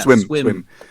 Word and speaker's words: SWMM: So, but let's talk today about swim. You would say swim or swim? Yeah, swim.